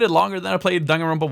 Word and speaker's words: Danganronpa: Danganronpa?